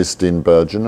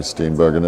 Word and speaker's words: Steenburgen: He'll tell us, is it Mary Steenburgen or Bergen?